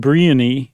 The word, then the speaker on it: Brionne: Derived from Brionne. Hill people. Pronounced Briony in northern France.